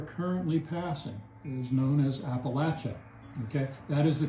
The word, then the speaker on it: Appalachia: Uh so in the south uh the correct pronunciation is Appalachia, but once you get up to New York